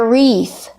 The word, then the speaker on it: wreath: It's called a wreath. Remember, the W is silent. Wreath. Use the long E.